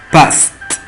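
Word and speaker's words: passed: Entonces el verbo en presente es pass y en pasado es past. past. La terminación ed se pronuncia como una T, que significa pasar.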